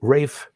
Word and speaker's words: Ralph: an english composer named rafe von williams that first name is spelled ralph but we have to remember that that it's only pronounced ralph in the united states everywhere else that spelling